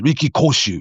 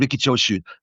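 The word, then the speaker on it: Riki Choshu: and he pronounced Ricky Chos as Ricky Koshu. Ricky Koshu, right? Anyhow, Sei Sakaguchi and Ricky Chosu, North American tag team champions at the time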